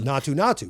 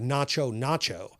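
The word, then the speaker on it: Naatu Naatu: They pronounce it as Natu Natu, which I guess means something along the lines of rural or country. But in the Hindi, it comes out more like nacho nacho, which just made me so hungry.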